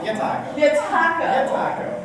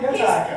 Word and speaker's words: Yataco: How do you say that? I've known him so much. Yataco. Who's Taco? Yataco.